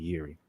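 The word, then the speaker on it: Jiří: Because I don't think you pronounce the J, actually. It's supposed to be Jan, and then it's supposed to be Jiri.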